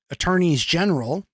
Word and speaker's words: Attorneys General: Arkansas Iowa Kansas and South Carolina all those Attorneys General is the correct way to say it I